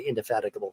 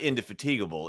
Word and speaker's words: indefatigable: to say this word so it's not inde fatigable it's yeah man I'm messing up now IND fatigable is how I wasn't thinking about it indefatigable it's one of my